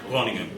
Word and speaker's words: Groningen: Nobody can pronounce it right. How do I say it? Groningen.